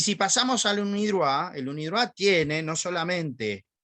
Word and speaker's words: UNIDROIT: Y si pasamos al UNIDROIT, el UNIDROIT tiene no solamente la convención, es